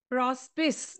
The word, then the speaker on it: Prospice: Prospice by Robert Browning. Actually, it is a Latin term, and in Latin, you pronounce it as prospice.